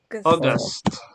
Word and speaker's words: August: no it's AUST yes August yes August yeah yeah remember in English this combination of letter we usually say all okay all like L